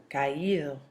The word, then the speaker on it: caído: The spelling changes, remember you're accenting the I so that you don't have a diphthong form and make it one syllable. So, oído, leído, traído, caído.